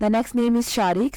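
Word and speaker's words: Shariq: और unique name है the next name is शारिक spelling है एस एच ए आर आई क्यू शारिक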